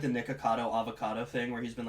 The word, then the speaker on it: Nikocado Avocado: It's obviously supposed to rhyme with avocado. Griffin, how do you pronounce it? So self-explanatory. Nikocado avocado.